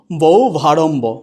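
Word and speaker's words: বহ্বারম্ভ: তাহলে উচ্চারণটা হয়ে যাচ্ছে কি বৌ ভারম্ভ, উচ্চারণটা হয়ে যায় কি বৌ ভারম্ভ।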